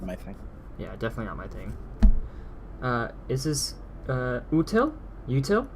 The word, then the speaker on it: útil: Util? How do you pronounce this?